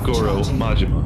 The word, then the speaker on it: Goro Majima: I have no clue how to pronounce the dude's name. It would be Goro Majima.